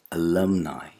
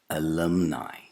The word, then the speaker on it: alumni: And the final vowel sound is not a monophthong, it's not E, it's a diphthong, I. Alumni. Alumni.